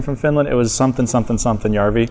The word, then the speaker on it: Jarvi: Jarvi.